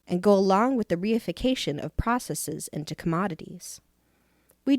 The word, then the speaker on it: reification: Reification, pronounced reification, is what happens when you think of anything